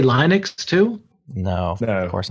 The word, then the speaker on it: Linux: the record of saying my name is lonus stal and I call Linux Linux hello this is lenus